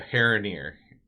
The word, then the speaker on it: Haranir: The Haranir is how I would pronounce that.